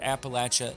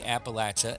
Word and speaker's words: Appalachia: Pronunciation of the word Appalachia is regional. There are at least 5 ways people say Appalachia, and that's okay.